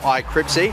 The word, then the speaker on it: Cripsy: a 3-1 victory for Cripsy. I think I called him Crispy at one point in this broadcast, and he immediately found me and said, "Oi, no, that's not how you say his name."